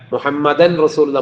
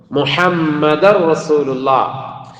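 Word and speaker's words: مُحَمَّدٌ رَسُولُ اللَّهِ: പലരുടെയും പറച്ചിലിൽ അങ്ങനെ വരാം മുഹമ്മദൻ റസൂലുള്ള മുഹമ്മദൻ റസൂലുള്ള എന്ന് വരും അതുകൊണ്ടാണ് പറഞ്ഞത് എങ്ങനെ വരണം മുഹമ്മദ് റസൂലുള്ള അതുപോലെതന്നെ ചിലര് സ്വലാത്ത് ചൊല്ലുമ്പോഴേക്കും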